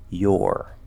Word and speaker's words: you're: The first pronunciation is your.